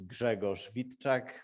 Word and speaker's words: Grzegorz Witczak: about me as piotr said my name is gregor schwitek which is impossible to pronounce if you're not polish so everybody calls